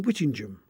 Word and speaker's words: Whittingham: Such names are common all over the country, and they're usually pronounced Ingham, like in Birmingham. Only in Northumberland does the pronunciation change and become Ingham, as in Whittingham, or indeed Edlingham.